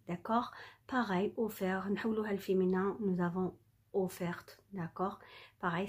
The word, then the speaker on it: offert: Nous avons ouverte, on va mettre T, on ne prononce pas le T, d'accord? Pareil, offert, nous avons offerte, d'accord?